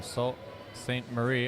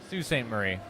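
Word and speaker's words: Sault Ste. Marie: for men's 120 from Sal St Marie Ontario Sue St Marie reading it and I pronounce it phonetically I apologize so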